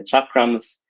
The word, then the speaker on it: chakram: It will be treated of the expansion and contraction of consciousness, progress by slaying the chakrams, which is an older, mostly a Southern Indian way of spelling chakram or pronouncing chakra.